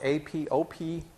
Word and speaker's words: apoptosis: When that happens, P53 initiates a process called cellular suicide, also known as apoptosis, and that's spelled A-P-O-P-T-O-S-I-S, the most mispronounced name in molecular biology. The second P is silent.